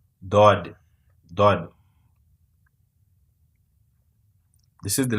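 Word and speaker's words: ضاد: Dod. This is the letter that we are going to introduce, for example. First, we learn the name of this letter, Dod.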